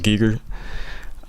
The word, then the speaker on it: Giger: HR Giger Geiger Geiger I'm sure it's pronounced as Geiger he's pretty much that